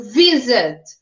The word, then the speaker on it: visit: Ele termina em consoante, vogal e consoante, se vocês olharem ali, visit, mas ele tem a sílaba átona, a sílaba mais forte no início, no vi. Então, visit, né?